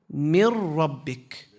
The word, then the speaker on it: من ربك: How do we do the merging? The meme goes straight to the ra. We skip over the noon. We merge it. Mir. Without a nasalization. We don't say mir. No. Mir rabbik.